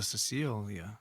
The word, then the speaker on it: Cecil: I thought it was the Cecilia. Cecil. I think Cecil. we pronounced it Cecile, I think, the first time, but I think it's actually just Cecil.